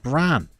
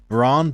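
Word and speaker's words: Brann: you struggled with clue it isn't pronounced bran I know that bran means fire in Norwegian or nyoga um ah so it's not pronounced bran it's pronounced Ron Bergen help me out Craig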